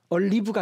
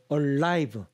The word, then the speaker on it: alive: 아버지가 살아계실 때니까 왼 your father is Alive 발음 조심하셔야 됩니다 얼리브가 아니고 Alive 살아있는 아버지께서 살아계실 때 옵저브 히즈윌 그의 위를